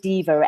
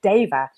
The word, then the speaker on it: deva: then I love that people always say diva and you are one of millions that say it and the actual pronunciation is daiva and it's a Sanskrit word and it is a